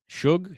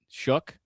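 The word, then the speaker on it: Shough: You know, I've heard this Tyler Shug guy, Suge. Shug, I heard he's actually Shook.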